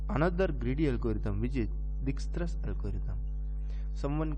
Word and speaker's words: Dijkstra: greedy algorithm, which is Dijkstra's algorithm. Someone called it like Dijkstra's algorithm, but here J is silent, so we will call it Dijkstra's algorithm.